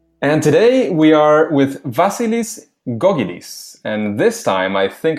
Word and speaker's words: Vasilis Gkogkidis: And today we are with Vasilis Gkogkidis.